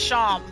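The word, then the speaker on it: Seam: Pronounced Sham. Oh, okay. So it's like Sean, only with an M.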